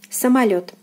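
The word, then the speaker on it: самолёт: So O is unstressed here and is pronounced as A. Самолет, самолет, самолет, meaning airplane.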